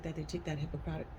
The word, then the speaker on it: Hippocratic: that they take that Hippocratic how do you say that hypocrite dang it Hippocratic Oath can I say that right yes they take that oh